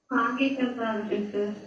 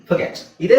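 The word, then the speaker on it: forget: okay ಫಾರ್ಗೆಟ್ ಫರ್ಗೆಟ್ ಇದೇ ಸರಿಯಾದ ಉಚ್ಚಾರಣೆ ನಾವೇನು ಹೇಳ್ತೀವಿ ಫಾರ್ಗೆಟ್ ಇಲ್ಲೇನಿದೆ ಫರ್ಗೆಟ್ ಅಷ್ಟು ಹೇಳಿದ್ರೆ ಸಾಕು ನಾವೇ ಎಕ್ಸ್ಟ್ರಾ ಅಕ್ಷರಗಳಿಂದ ಹೇಳೋದು ಎಕ್ಸ್ಟ್ರಾ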